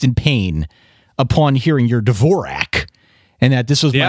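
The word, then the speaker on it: Dvořák: Dvorak? That's how I pronounce it. I'm sure I'm wrong. Antonin Dvorak is rolling over in his grave because it's Antonin Dvorak.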